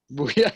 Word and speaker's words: Buha: Booyah, I think that's how you say his name. But anyways, is Booyah. Booyah, yeah.